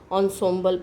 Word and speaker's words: ensemble: अब ये एंसेम्बल है लिखा, लेकिन इसको पढ़ते हैं, यहाँ देखिए प्रोनाउंसिएशन दिया हुआ है, ensemble पढ़ना है, ठीक है।